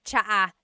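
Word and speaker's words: tsa: Polyglot said it's like the word cha. Cha in Tagalog is T like the tea that you drink. And it's spelled T S A.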